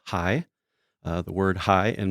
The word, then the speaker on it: HAIS: Inc and stories Club the acronym is spelled h a i s which is pronounced as high uh the word high